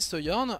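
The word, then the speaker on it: Sojourn: ça où se journe moi je préfère prononcer seyorn personnellement donc c'est un personnage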